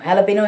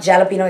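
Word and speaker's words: jalapeño: how they pronounce it the j is pronounced like an h so you know you heard of jalapenos it's spelled j-a-l-a-p-n jalapeno is like you know green chilies basically so um it's not jalapeno it's jalapeno so um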